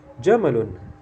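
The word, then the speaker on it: جمل: pendek semuanya Bang ya jamalun ya artinya unta W dan apa ini ini seekor unta jamalun ya jadi jangan dibaca panjang ya karena salah arti mungkin ada teman yang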